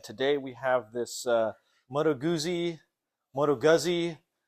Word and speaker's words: Moto Guzzi: at Nova and today we have this uh Moto Guzzi Moto Guzzi matogutsi we got a little bit of flack last time how we pronounced it but I'm I speak Italian I'm